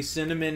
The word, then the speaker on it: cinnamon: a little bit of cinnamon and then some some hot water rudy cinnamon has three syllables and not two cinnamon it's just a little